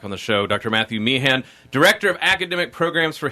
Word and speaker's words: Mehan: Mehan, as in me and you.